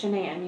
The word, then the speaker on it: Shanan: friends with is it chanan or shenan it's shenan you pronounce it like shenanigans oh everybody calls her